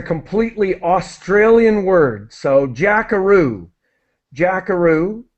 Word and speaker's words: jackaroo: Australian word so jackaroo jackaroo is the name that's the pronunciation it's similar to Kangaroo the animal that is one of